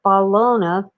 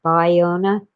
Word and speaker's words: Ballona: or just plain old Ballona, but that makes me think of Oscar Mayer. Baloney. But it apparently is spelled with only one L, so it should be Ballona, not Biona.